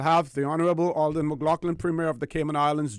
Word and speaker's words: McLaughlin: the Honorable Alden McLaughlin and that's the British pronunciation pronunciation all the McLaughlin premiere of the Cayman